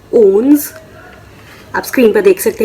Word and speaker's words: onze: 11 को कहते हैं ओन्स। आप स्क्रीन पर देख सकते हैं इनकी स्पेलिंग ओन्स।